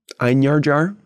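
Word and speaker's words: einherjar: the souls into the einhard jars wherever you want to pronounce that one and stuff uh giving them the J is a y sound einar jar there's no J there's no J sound there's it it's okay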